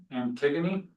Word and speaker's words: Antigone: I think it's pronounced Antigone?